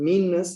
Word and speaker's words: meanness: along in in english the word meanness has two ends in the middle meanness the we don't pronounce it's meaningless but we kind of hang on to a little bit longer as it poses the word any any that's a short n right any versus meanness see it's longer and